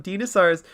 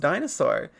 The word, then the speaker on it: dinosaur: It is not pronounced dinosaur. It is pronounced dinosaur.